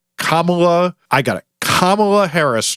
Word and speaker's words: Kamala: Never mind if you have one of those names that no one knows how to pronounce. Like, god forbid Cabala Camela Kamala, I got it.